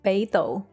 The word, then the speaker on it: Beidou: Beidou.